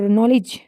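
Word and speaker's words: knowledge: for silent letter D letter D इज not pronounce in द DG combination जहां पर डी NG combination होगा वहां पर डी जो है वो नहीं प्रोनाउंस होगा जैसे कि grudge hedge plunge and Dodge ये ऐसे वर्ड्स है जहां पर यह प्रोनाउंस नहीं होता जैसे कि ब्रिज और नॉलेज तो ये इसके एग्जांपल्स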